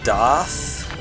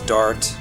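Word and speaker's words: Daath: is right there it was translated as doth or something like that in the english version i have no clue why but it's dart you can clearly hear the characters pronounce it but um this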